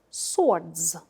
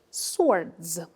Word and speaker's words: sword: island this word is swords swords as sword much ammo hobli a sword W is silent here s word repeat the